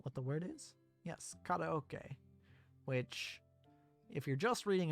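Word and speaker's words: カラオケ: addressing it, but yes, in English, we pronounce it karaoke, even though it's not even close to how it's pronounced in Japanese. Karaoke. Like, pretty much every syllable is different. Ka versus K. As it instead of re, not he. Slight difference there, but it's there. O is the same. Karaoke. And then key instead of K.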